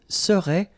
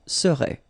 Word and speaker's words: serait: So final T is not pronounced. So phonetically, you've got the same form as we had previously. Il serait, elle serait.